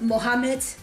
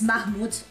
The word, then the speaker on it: Mahmood: And the part about Italy songs, it's not Mohammed, I pronounced the wrong name, it's Mahmood.